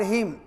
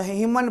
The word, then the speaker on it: hymn: एम के just बाद जब एन आ जाए तो एन साइलेंट कर दोगे, ये नहीं जो हिमन पढ़ेंगे जैसे AU TUMN, आटम पढ़ेंगे, आटमन नहीं। इस तरह से HYMN हिम पढ़ेंगे।